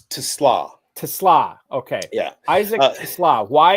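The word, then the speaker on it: TeSlaa: this guy Isaac TLA it's TLA Tesla okay yeah Isaac TLA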